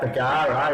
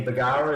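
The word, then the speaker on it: Bargara: I've heard about Bagara, is that how you pronounce it? Local Yeah, beach Bagara.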